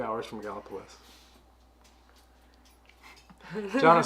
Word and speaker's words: Gallipolis: I would have said Gallipolis. Yeah. Gallipolis. Yeah, we are just south of Dayton, so we are a couple hours, probably 2 hours from Gallipolis.